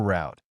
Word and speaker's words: route: We call this latest layout the 12th route or 12th route of 2, with the pronunciation of route rhymes with boot or route rhymes with out, having different significance in both pronunciations.